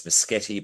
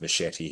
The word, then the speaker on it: Muschietti: He has 3 different ways you can say his name. It's Muschietti, but he actually calls himself Machete. He's called that name.